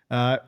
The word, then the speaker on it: Melheim: Melheim, have I been pronouncing that correctly? Melheim? Yep. Or is it, Yep, yep, you got it. Melheim.